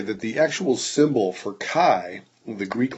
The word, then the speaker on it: chi: But anyway, chi, and that's how it's pronounced, chi, C-H-I, is simply the sum of the observed frequencies minus the expected frequencies squared divided by the expected frequencies.